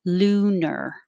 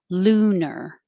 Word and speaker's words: lunar: see it maybe and it looks like lunar but we don't say r we say er so it sounds like lunar lunar and the stressed vowel and presidents is s and the stressed vowel in lunar is just ooh like who aphrodisiac oh this is another